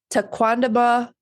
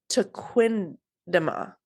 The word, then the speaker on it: Tequendama: And it's very similar to this, but they pronounce it Tequendama. So if I say Tequendama, it's because I'm going with Tequamanon Falls, but it's Tequendama.